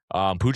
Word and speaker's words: Pucc: Pooch is spelled Pucc for those that don't know.